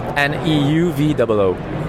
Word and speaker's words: Neuvoo: How do you spell it? It's Neuvoo. Neuvoo.